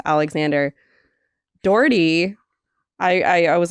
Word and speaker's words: Dougherty: Dougherty. I was like, how do you do this? Like, what am I working with here? He's like, if you can say 40, you can say Dougherty. 40 Dougherty.